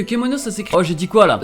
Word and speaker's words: Kemono: Et non Kimono comme certains pourraient l'entendre. Non mais finalement l'erreur, on sait d'où elle vient. Ouais bon, l'animé du coup. Elle vient du fait qu'en fait que Kemono ça s'écrit.